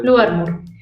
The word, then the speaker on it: Lou Armour: o el Lou Armour, no sé cómo se pronuncia, ¿no? Lou Armour.